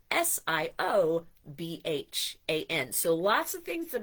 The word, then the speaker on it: Siobhan: I know some people think Siobhan is Shivan, but it is Siobhan.